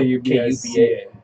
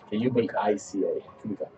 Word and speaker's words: Kubica: His name is if Mike, if you want to like look him up, his name is spelled Kubica. Yeah, Kubica.